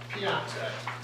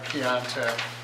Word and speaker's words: Piontek: Mark Pointek, is that how you pronounce that? Piontek, close, close enough. Good evening. My name is Mark Piontek, and I'm the attorney for JSL Holdings.